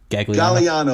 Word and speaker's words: Gagliano: asked before we started galliano galliano the second sicilian the second g is silent hey galiano thank